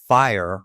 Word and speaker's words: FHIR: That is, FHIR rhymes with 5.